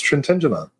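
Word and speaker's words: Trintignant: I'm going to say Trentignant. Is that Is that proper? It's Trentenant.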